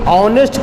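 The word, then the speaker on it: honest: तो जब हम ऑनेस्ट को प्रोनाउंसिएट करते हैं तो ऑनेस्ट को प्रोनाउंसिएट करने के क्रम में इसका पहला लेटर औ से शुरू हो रहा है जो कि वॉवेल है।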